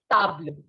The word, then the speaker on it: table: So table in French is the same as in English, spelling wise, but not pronunciation wise. Pronunciation will be table.